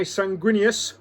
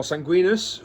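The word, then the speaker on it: Sanguinius: And we've got Blood Angels led by Sanquinius, or Sanguinus, or however you like to pronounce his name. I pronounce it Sanguinus, so we'll be pronouncing it like that in the game.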